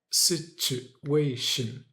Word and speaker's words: situation: And when you have a t u a in the middle of a word, you say ch instead of t with the ch sound. So yeah, we get situation situation.